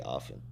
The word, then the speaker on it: often: everybody pronounces the T in often. It's supposed to be often.